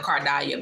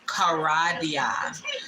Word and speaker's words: Karadyah: So, y'all been hearing me call myself Kardia because that's the way it was on the slave manifest, but it's pronounced karadia.